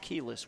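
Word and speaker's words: Quiles: second Andre Kelis kis spell Qi L but pronounced keyless we've been told hopefully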